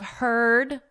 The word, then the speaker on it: heard: Beware of heard a dreadful word that looks like beard and sounds like bird.